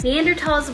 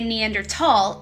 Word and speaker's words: Neanderthal: If you say Neanderthal or if you say Neandertal, you're actually correct either way. The word thal is the German word for valley, but in German, of course, it's pronounced as tall.